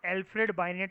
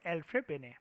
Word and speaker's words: Alfred Binet: लिखते हैं हम लोग इसको एल्फ्रेड बाइनेट करके हैं, प्रोनाउंसिएशन इज एल्फ्रेड बिने। एल्फ्रेड में डी साइलेंट, बिनेट में टी साइलेंट।